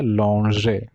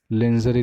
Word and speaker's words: lingerie: कपड़े रहते हैं, उसको बोला जाता है लॉन्जरे, लॉन्जरे, लॉन्जरे, लिंजरी नहीं, ठीक है?